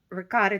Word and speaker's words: ricotta: sauce uh eggs uh ricotta cheese i'm italian so that's the way we pronounce it uh you could make